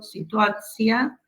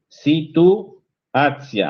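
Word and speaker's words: situacija: Por ejemplo, situacia, intercalación. Situacia. Ahí tenemos un guioncito que usé a propósito para que lo pronuncies bien.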